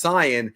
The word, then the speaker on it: Saiyan: is years ago and he would say super saiyan and I'm like no it's Canan and then when he